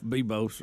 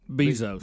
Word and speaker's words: Bezos: gonna say it right jeff bebos or something something like that how do you say it i think it's bezos bezos you got to know that yeah you dropped that